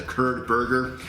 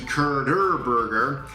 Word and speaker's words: Curderburger: I think in my last video I mispronounced that. Called it the Kurd burger, but it is in fact the Kurder burger.